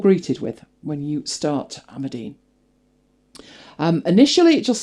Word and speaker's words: Amadine: So I wrote it down phonetically and thought, okay, fair enough. Every other video said Amadine. So we're going with Amadine.